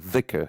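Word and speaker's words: dhikr: to us and um there's some confusion in american speaking languages because that original it's called the vicar which is it's in arabic there's a letter called da it's a d that has h behind it we don't really have it here so the closest is like th or z so sometimes you see it's spelled as zikr or the hicker or but the correct pronunciation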